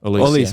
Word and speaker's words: Olise: Olise, Mike Olise.